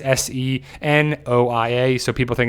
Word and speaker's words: Senoia: It's Senoia.